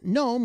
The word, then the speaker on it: GNOME: a pointy hat uh pronounced gnome with a silent g that also collected on